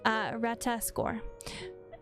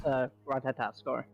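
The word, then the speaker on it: Ratatoskr: did willfully betray and murder the great worm Rataskor, shattering the peace between our peoples. It's Ratataskor.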